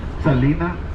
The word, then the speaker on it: Selena: good memory to remember her name is Selena rhymes with profina thank you very much